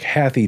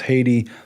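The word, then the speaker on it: HathiTrust: as the haiti trust it looks like happy trust but they say it's pronounced haiti much like the country and it's a reference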